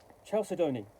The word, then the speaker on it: Chalcedony: So I have Slate and Charles Donaldsey, or I can't pronounce that correctly. It's Chalcedony, Slate and Chalcedony, and that's from the Melsonian Arts Council, who do Troika.